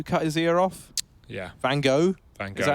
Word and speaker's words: Van Gogh: Van Gogh.